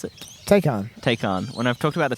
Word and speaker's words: Taycan: How do you pronounce it? Taycan.